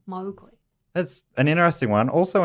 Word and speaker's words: Mowgli: you know how we say Mowgli? Apparently it's actually pronounced Mowgli, and Kipling's daughter never forgave Walt Disney for the mispronunciation.